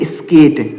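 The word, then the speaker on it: skate: तो हमने एक नियम अभी आपको ऊपर बताया था कि अगर ए के साथ लास्ट में ई हो तो ए का उच्चारण एक ही मात्रा के रूप में करते हैं, तो वैसा हमने यहाँ पर किया।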